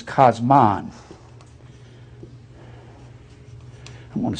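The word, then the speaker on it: κόσμον: you go into the Interlinear Bible it says cosmon I'm going to spell it like it is in the greatek k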